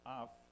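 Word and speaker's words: אף: es la H639, en la concordancia Strong, se pronuncia af y significa propiamente la nariz.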